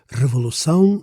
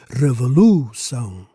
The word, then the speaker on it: revolução: So here, in revolução, the accent on the last syllable makes it an oxytone word, meaning the stress falls on the final syllable.